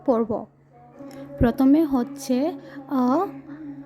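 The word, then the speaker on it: अ: এ ও আন আহা সবসময় মনে রাখবে বাংলায় যেরকম আমরা ও আ এইভাবে পড়ি প্রথমটাকে ও বলি সেভাবে হিন্দিতে প্রথমটাকে ও বলে না এখানে আ বলে মানে ছোট আ তারপর বড় আ এইভাবে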